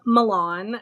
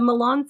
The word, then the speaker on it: Malan: find it is um pronounced a couple of different ways typically the community says Milan um and the Milan syndrome or Milan syndrome